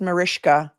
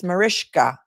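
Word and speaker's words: Mariska: Um, and her name is pronounced Marishka.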